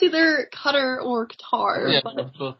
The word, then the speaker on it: Qatar: With Qatar? What's the proper way to say it? Both are. All of them. Just keep saying it. Cater. Okay, well I know that's not right. I know it's either Qatar or Qatar.